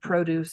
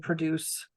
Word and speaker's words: produce: noun or a verb they're spelled the same but depending on where you place the stress so produce and produce right um can be